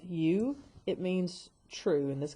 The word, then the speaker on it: eu: biology so whenever you the EU which we pronounce u it means true and